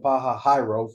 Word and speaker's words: Pi-hahiroth: So you have Pi-hahiroth or Pi-hahiroth, depending how you want to pronounce that H-I one. But it's Pi-ha-hi. They pronounce it, scholars pronounce it Pi-hahiroth.